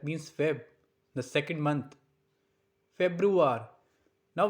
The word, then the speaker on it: Februar: Februar. Now we have to focus on the sound like roar.